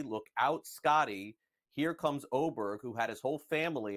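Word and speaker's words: Åberg: but look out folks oberg I know spelled with an A but pronounced with an O looks to be one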